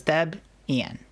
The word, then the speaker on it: Debian: But that's I believe that's how they pronounce it and that's why I pronounce it that way as well is because of that. It also does sound a lot more like lesbian when we say it like that.